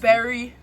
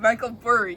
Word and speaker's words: Michael Burry: Doesn't even know how to say the name. Michael Berry. Michael Berry, yeah. Look look at who Michael Berry is. Oh, no. Sorry. Sorry. My bad. Michael Burry.